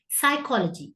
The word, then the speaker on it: psychology: Psychology. Psychology le P silent.